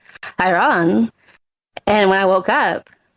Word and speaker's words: Iran: And they said, Iran. And when I woke up, it was Iran, because I actually don't speak with that guy. But, like, it was Iran, the mountains of Iran. But they said Iran, and it was, like, this really weird way